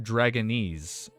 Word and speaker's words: Dragonese: Diouf, it's pronounced Dragonese. Dragonese. God, Dragonese. Oh, it's similar how you say Japanese or Chinese, I think.